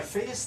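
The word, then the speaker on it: Fejér: Well, because f is continuous, and so by Fa's theorem, I can uniformly approximate f by the weighted Fourier series. So this is Fa's theorem. I think the accent is on the second E.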